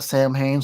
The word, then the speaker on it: Samhain: And I believe they call it Samhain, so before somebody corrects me, when I hear a band pronounce their own name, I just pronounce it the way they say it.